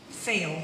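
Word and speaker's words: Feil: The video on YouTube that you should look up is Naomi Fail. Her last name is spelled F-E-I-L.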